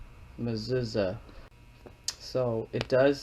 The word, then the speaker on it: Mechezah: the modern day Hebrew it says this is how you pronounce her name muza muuza so it does spell